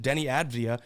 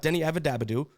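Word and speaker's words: Deni Avdija: I think that this could be a Kamara and Denny Avdia. Yes, I could say his name correctly. Not Denny Avadabadu. even though that's more fun to say.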